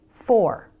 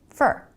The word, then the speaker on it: for: Let's take, for example, this word, for. Fully pronounced, it's for. But most of the time in a sentence, Americans pronounce it fur. Really fast with a reduced vowel, fur, fur.